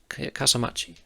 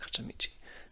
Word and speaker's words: Kasamachi: Do I keep saying his name wrong? I need to burn his Kasamachi, not Kasamichi.